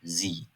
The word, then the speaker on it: Sie: Tam tersi olarak i'den sonra e geliyorsa uzun i şeklinde okuyoruz. Örneğin "Sie, Wie".